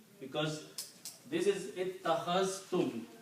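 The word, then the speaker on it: اتَّخَذْتُمُ: Ittakhaztum, because this is ittakhaztum. You have to combine these two, you have to pronounce ittakhaztum.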